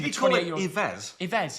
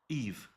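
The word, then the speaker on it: Yves: himz Iz yez yez how do you pronounce him Eve Eve yeah of course how does that mean you're joking when he said Iz yeah that's how you say it though Eve Eve eve it's like French listen you've been to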